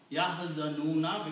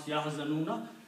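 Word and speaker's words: يَحْزَنُونَ: Okay, but when you stop at the ayat, you pronounce Yahzanun. You do not pronounce Yahzanuna.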